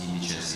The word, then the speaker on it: indices: I'm using the Latin pronunciation because indices is the plural of index in Latin, which means indicator.